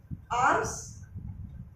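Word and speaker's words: alms: आर्म्स, इसमें L silent है, आर्म्स, आर्म्स है ये गिफ्ट, गिफ्ट्स, है ना।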